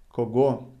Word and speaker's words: кого: Written кого, чего, however pronounced кого, чего, with the emphasis on o.